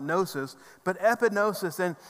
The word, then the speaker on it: gnosis: head knowledge is gnosis the g is silent gnosis but epidosis and it's